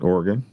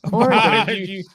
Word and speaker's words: Oregon: how I pronounce it, Oregon.